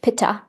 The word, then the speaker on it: pitta: And so a pitta person in the West, we pronounce it pitta. A pitta person is medium bodied.